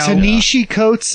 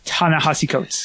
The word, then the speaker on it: Ta-Nehisi Coates: You know, Tanishi Coates, is that how you say his name? I think. I want to say it is Ta-Nehisi Coates.